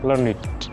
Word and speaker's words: learned: Kalau learned adjektif, maka bunyinya learned.